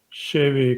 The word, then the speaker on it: Chevy: And make sure when you say Chevy, just hold that E. Chevy. Chevy. Chevy convertible. First syllable is more Chevy convertible. Sha. So it's not she, it's more sha.